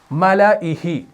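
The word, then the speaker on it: مَلَئِهِ: اس الف کے اوپر گول دائرہ ہے تو اس کو نہیں پڑھنا، تو یہ بنے گا ملائہ. یعنی اس کا تلفظ اگر آپ کریں گے وہ بنے گا ایسے ملائہ. میں نے الف کو ہٹا دیا.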